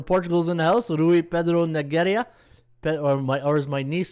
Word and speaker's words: Pedro: in the house, Rui Pedro Nogueira. Or as my niece said, it's not Pedro, Uncle Ron, it's Pedro. If you're Portuguese, it's not Pedro, it's Pedro.